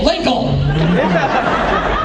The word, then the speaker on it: Linkle: Linkle. As in rhymes with tinkle?